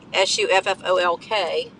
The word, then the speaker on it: Suffolk: my destination I'm going through a town named Suffolk in Suffolk Virginia it's really spelled Suffolk s-u-f-f-o-l-k let's pronounce Suffolk like Norfolk is spelled n-o-r-f-o-l-k but